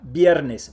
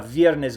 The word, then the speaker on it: viernes: Remember, when you have a B or a V at the beginning of a word, you pronounce it strong like a B. Vaca, viernes, valor. Don't say vaca, viernes, valor. That's wrong. There is no V sound in Spanish.